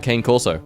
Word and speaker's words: cane corso: It's about the size of a cane corso. Sorry, correct pronunciation.